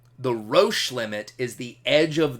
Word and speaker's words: Roche: of that danger zone it's called the Roche limit and that's a little bit of a weird word it's spelled our Oh see h-e-b Roche limit is the edge